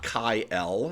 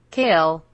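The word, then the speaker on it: Kael: of their own champion it is not chi l if you wanted his name to be chi l it would be spelled k a k-a-i-e-l and here is the proof you need welcome to write speech the pronunciation of this name is kale kale kale kale thank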